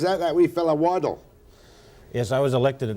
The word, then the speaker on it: Waddell: that we fell a waddle if I was elected at the same time as Ian Waddell or what was ours we call him the nod or not it's waddle don't forget that is waddle what Dale is a